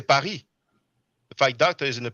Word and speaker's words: Paris: See, in English, you pronounce the S. You say John Charles. But in French, we don't actually pronounce the S. Just like Paris, we say Paris.